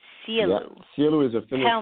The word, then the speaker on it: Sielu: It's called Sielu. Sielu.